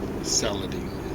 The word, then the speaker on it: Saladin: Saladine is how we pronounce it in English.